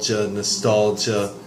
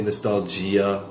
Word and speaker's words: nostalgia: So pronunciation-wise, I say nostalgia. You might just ja. Some people may say nostalgia with a more of an E sound. Nostalgia. Either is okay.